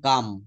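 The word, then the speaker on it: calm: এখানে এলটা কিন্তু সাইলেন্ট থাকবে। আই এম কাম।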